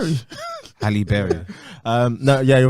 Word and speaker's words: Halle Berry: self in the animation to a black woman, Hailey Berry. What? Hailey Berry. Hailey Berry. Don't know why. Bailey. Hailey Bailey. Hailey Bailey. It's quite a hard name to Halle pronounce. Berry. Halle Berry.